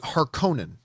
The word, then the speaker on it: Harkonnen: despite seeing the original movie i have always pronounced it harkonnen and whenever i heard somebody refer to the